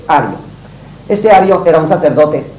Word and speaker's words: Ario: en castellano, por tanto, Ario o Ario, pero no Arrio. De arriano y arrear es demasiado cercano y no conviene. Así que yo propongo que lo corrija. Es un error histórico que se fue pronunciando así con R vibrante y pasó a doble R, que no debe pasar. Es Ario.